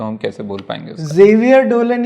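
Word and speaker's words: Xavier: still call it जेवियर सो इट्स the French thing so in France जेवियर इज हैयर ह अ एंड इन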